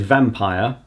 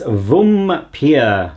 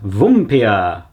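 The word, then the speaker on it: Vampyr: Would be something like, I know I said vampire, but he says it's Vumpir. Vumpir.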